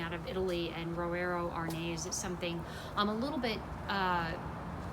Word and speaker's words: Arneis: Arneis, Arneis, spelled like it's French, pronounced like it's Italian.